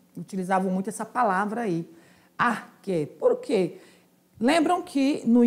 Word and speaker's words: arché: de vista é Aé ou na no na pronúncia mesmo grega é arque que é o princípio que dá origem às